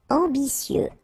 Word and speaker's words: ambitieux: Ambitieux, final X not pronounced, and then remember that you get this T, E, and then vowel, so C. Ambitieux, ambitieux.